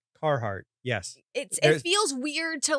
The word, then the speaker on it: Carhartt: There's 2 R's in that word and you Do you want pronounce me to roll my R's now? No, I just want you to pronounce either of the 2.